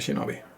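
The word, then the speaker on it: 忍び: Se pronuncia shinobi.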